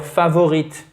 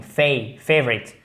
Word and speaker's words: favorite: Déjà, vous mettez l'accent tonique en premier, ça règle pas mal de choses. La première syllabe, la première voyelle se prononce comme une diphtongue. Favorite. Okay? Favorite. Et après, on n'entend presque pas le i. Comme un e atténué. Favorite.